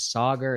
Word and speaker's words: Saagar: sir it's me sauger my name is sauger it's pronounced this way you should call on